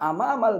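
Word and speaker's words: أمامَ: amamal masjidi Nah kata amamal masjidi Amama di sini adalah Ma'ul Fih karena menjelaskan tempat dan dia mansuk bacanya Amama ya Sebelum saya tutup pembahasan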